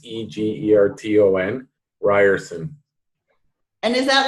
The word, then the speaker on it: Egerton: People say it a different way, but it's Egerton, Ryerson.